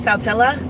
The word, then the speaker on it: Saltillo: Yeah, the Saltillo, they pronounce it, well, they call it Saltilla here, but I would pronounce Saltillo.